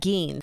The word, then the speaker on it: Gein: And Steve, I have to start by admitting I have been mispronouncing Ed Gein.